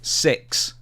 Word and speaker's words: Sicks: WWE stuff now Wyatt 6 has finally debuted after months it's called The Wyatt 6 but it's spel spelled like s i c k s or supposed but there's